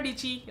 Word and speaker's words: Dietschy: In this episode, I'll be interviewing Sara Dietschy, rhymes with Peachy, and this one was